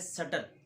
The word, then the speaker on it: subtle: गए और आधे बच्चे सबटिल पे आ गए। हालांकि ये दोनों पढ़ना गलत है। ये बेसिकली है सटल, सटल नॉट सबटिल, because B is silent, क्योंकि बी के साथ टी आ रहा है।